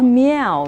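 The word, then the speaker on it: 猫: example dog cat mouth oh like Mia yeah like meow yeah good okay um bird bird meow meow meow yes meow okay meow meow meow meow with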